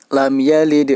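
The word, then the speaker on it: لم يلد: dipantulkan Hai huruf Dal cara memantulkannya yaitu menyerupai huruf a lam yalid walam yulad lam yalid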